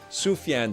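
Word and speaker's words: Sufjan: Arc Scott Sufyan Stevens, that's how you say it.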